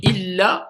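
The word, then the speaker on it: إلّا: Donc illa et ila, ça a deux choses complètement différentes. Donc quand il y a une shidda, il faut prononcer la shidda.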